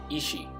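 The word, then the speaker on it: 意志: in the Japanese is ishi. This is pronounced pretty much the same as the term ishi, or dying will, that's being translated as blood echoes.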